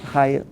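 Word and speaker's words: Haier: the chairman of haha you pronounce it higher higher higher higher is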